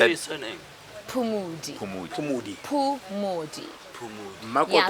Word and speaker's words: Phumodi: Poo with O. No, Poo with U.